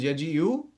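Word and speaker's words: يجيء: So in this case, the first one is yaji'u, the second one is lam yaji, meaning that there is no pronunciation of the hamza afterwards.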